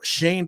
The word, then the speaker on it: Schoen: we all know that yeah my dad was pronouncing shone shane properly for me the other night i gave